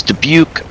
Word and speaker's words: Dubuque: inbound for full stops warrior flight this is dubuque take up a starboard delta 1000 feet we'll